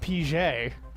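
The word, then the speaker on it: Pighead: and it had Captain pigh head pronounced PJ was the peard commander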